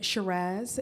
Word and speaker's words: Shiraz: name is Shiraz it rhymes with pizzazz or bus your you